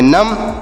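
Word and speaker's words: numb: एम से पढ़ेंगे म बी साइलेंट है तो इसे पढ़ेंगे नम नम मतलब क्या होता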